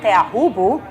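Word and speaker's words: Teahupoʻo: Tahiti is stalling, he knows perfectly how to do it, coming from Tapu or Teahupu, which is the right way to say it.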